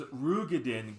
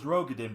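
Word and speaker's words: Roegadyn: minds because this is The first time in the entirety of Final Fantasy 14 does Rugadin get actually pronounced in game, which everyone thought was Rogadin before.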